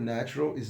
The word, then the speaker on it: naturalis: The origin of the word natural is Latin. It means birth, nature, quality. In Latin, it is pronounced naturalis.